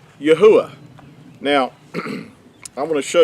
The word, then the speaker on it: Yahuah: They'll hear it pronounced as Yehovah, and but the accurate transliteration is Yahuah.